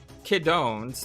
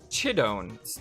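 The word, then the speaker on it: Chidouin: on this uh sarah kiddone's name is actually sarah chidone's name um it is a cha sound not a k sound uh so from now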